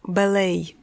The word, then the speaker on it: ballet: По-французски оно звучит «бале», «le ballet». В английском произношение изменилось, и звучит оно «ballet».